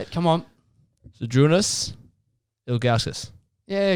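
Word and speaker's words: Žydrūnas Ilgauskas: Zydrunas Ilgauskas.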